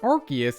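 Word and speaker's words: Arceus: Finally, according to Tom Wayland, the anime's previous voice director, Archus is pronounced with a hard C, so their name doesn't have ars, which is, of course, British slang for butt.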